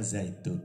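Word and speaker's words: زيتون: Jadi bacanya zaitun, itu tanwin. Tapi munculnya nun di akhir itu hanya lafdon, dalam suaranya koyot seperti ada nunnya, tetapi lahoton dalam tulisannya tidak ada nun, ya begitu.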